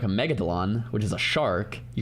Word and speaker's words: megalodon: Pronunciation. Megalodon. That's what I said. Megodelon.